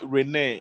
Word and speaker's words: Rennes: They were They play with all Rene, and I think Rene yeah.